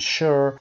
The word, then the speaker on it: sure: is almost always s common exceptions sugar and sure where the S is pronounced sh number all the same